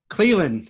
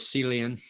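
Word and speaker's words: Clelin: Cleveland is how you say his name. Cleveland Farrell, yep. I thought it was Celian.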